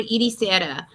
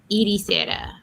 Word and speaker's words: Ericeira: It's called Ericeira. So it's not pronounced like it's spelled. So it's ERCRE. I have to type it out. ECERIA. ECER. And Syria? Ericeira. Ericeira. But ECERA. It's like Eric. ERIC.